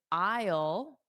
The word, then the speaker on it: aisle: Yeah, aisle is difficult for sure. I think what Manuel said, if you just think of it like the word aisle, I will is really the same pronunciation.